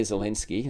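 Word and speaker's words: Zelensky: Vladimir Zalinski. That's how you actually pronounce his name.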